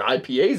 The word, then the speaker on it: IPAs: sure I mispronounce it I used to call ippas all the time just learned the other week yeah they're ipas I guess that's what they say well dippas dippas dippas